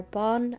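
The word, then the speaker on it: Bán: For anybody who's new, my cat's names are Bon and Bjug. That's how they're pronounced. And Bon means white in Irish and Bjug means small.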